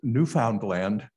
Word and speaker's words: Newfoundland: is what they're called she always pronounced newfoundland with all three words very distinctively pronounced and that was fascinating